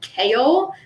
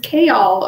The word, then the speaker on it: Chaol: thought his name was i kept calling him kale like the vegetable and then i realized i had a pronunciation guide in the back of my book and i was like oh his name is chaol okay all right then